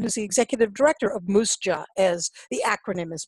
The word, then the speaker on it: MUSJA: introducing Ashley Haran, who's the Executive Director of MUSJA, as the acronym is pronounced.